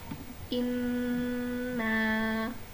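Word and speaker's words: إنّ: Cara membacanya, nun ditekan dengan kuat dan ditahan selama 3 harokat. Contohnya inna. Nah, di bagian nun tasydid teman-teman harus membacanya dengan menahan selama 3 harokat dan tidak boleh terburu-buru.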